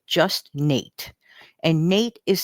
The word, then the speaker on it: Knate: His channel name is Just Knate, and Nate is spelled with a silent K in front of Nate.